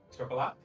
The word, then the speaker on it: chocolat: How do you pronounce that last word? Chocolat? You pronounced the T, didn't you?